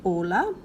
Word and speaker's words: hola: The H is always silent. Ignore it. Pretend like it's not even there. Just go straight to whatever the next sound is. So this is hola, hamburguesa.